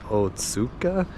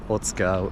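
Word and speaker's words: 大塚: but it's actually pronounced Otsuka because in Japanese there's a couple, usually in the words with the U right in the middle, they end up not pronouncing the U a lot of the times.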